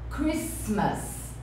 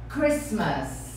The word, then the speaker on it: Christmas: O T é mudo. Então a gente fala Christmas. Christmas.